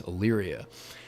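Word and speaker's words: Elyria: the county seat there and so if you look at a map and you see how it's spelled you know how to say it now it's illyria kind of a weird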